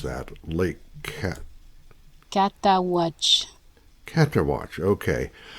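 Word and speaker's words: Cataouatche: And somewhere between the Mississippi River and Lake, how do you pronounce that? Lake Catawatch.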